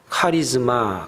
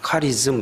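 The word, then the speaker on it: χάρισμα: 우리말로 도 발음이 비슷하지만 헬라 말로 도 은혜와 은사가 발음이 비슷합니다 은 애런 말을 갖다가 우리 카리스 이렇게 말합니다 은사 라는 걸 갖다가 카리스마 카리스마 이렇게 발음합니다 은사는 값 없이 주어진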